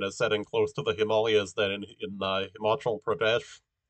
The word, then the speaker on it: Himalaya: uh that you that in english the uh pronunciation himalaya is found a lot and uh that it's it's actually incorrect you know like that's from uh people analyzing a spelling where the long vowels were not marked um and uh that that the the actual pronunciation of the mountain range is himalaya okay wait is that